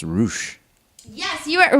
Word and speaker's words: Rush: Well, first and foremost, I believe it's pronounced Roosh.